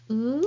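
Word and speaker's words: う: So this is u. Look at the shape of of my mouth. It doesn't change.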